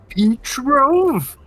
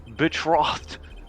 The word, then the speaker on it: betrothed: His betrove? It's pronounced betrothed.